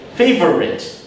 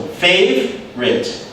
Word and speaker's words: favorite: They say favorite. Or they focus too much on the R sound. So even though it's a 3-syllable word, it almost sounds like it's only 2 syllables. So favorite.